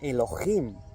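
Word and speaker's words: אלוהים: 430 de la concordancia Strong hebrea, que se pronuncia Elohim y que significa dioses, dioses verdaderos, Elohims.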